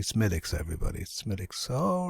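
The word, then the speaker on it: Smithwick's: the coost tours um they'd call it smick Smithwick Smithwick and I'd be there no it's actually smiix everybody smiix all right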